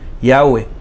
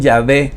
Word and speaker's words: Yahweh: O si quieren ponga la pronunciación, Yahweh. Algunos dicen Yahvé, ¿sí?